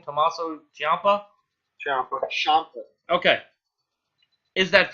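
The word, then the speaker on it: Ciampa: do you say the guy's last name tomaso Champa Champa Champa okay is that feud over no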